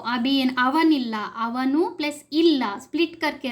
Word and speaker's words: ಅವನಿಲ್ಲ: We can't say द ಅವನು plus इल्ला करके ऐसा प्रोनाउंस नहीं कर सकते हैं। ಅವನಿಲ್ಲ ये वाला संधि होता है।